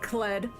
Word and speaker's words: Cled: You butchered that heavily, but you can say Cled. Pronounced like red. Like past tense of read. Red.